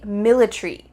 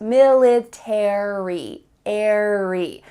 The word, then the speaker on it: military: final letters a-r-y military in british english they often cut out the a so instead of military it would be military military that a is